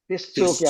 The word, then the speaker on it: في السوق: ഫിസ്സൂക്ക്. ഷംസി അക്ഷരം വരുമ്പോൾ എന്ത് ചെയ്യണം? അല്ലിന് രാജ് ഉച്ചാരണം ഇല്ലാതെ വരും. ഫിസ്സൂക്ക്.